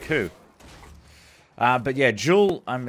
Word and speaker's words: Joule: who uh but yeah jewel um it's spelled the same way as like energy like a killer Jewel I'm